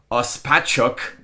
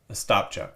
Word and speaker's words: Ostapchuk: What was coming back from that trade is Zach Ospachuk. Ostapchuk.